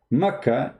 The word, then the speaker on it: Mecca: Mecca is how it's pronounced for some people.